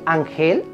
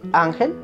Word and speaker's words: ángel: ¿Se dice ángel? Ese es mi ángel de la guarda. ¿Sí? Entonces lleva tilde si no termina en NSO vocal. Ángel termina en L, por tanto, lleva tilde.